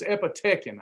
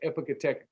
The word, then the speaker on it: epicatechin: I'm going to call this epitechin. I think I pronounced it wrong. Epitechin. I tried to get my vocabulary. I've been reading it forever, but I ain't never had to say it. Epicatechin. But anyway, I think it's epicatechin.